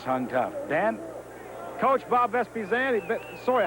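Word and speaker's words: Vespaziani: Coach Bob Vespiziani. Sorry, how do you say your last name, Bob, again? Vespiziani.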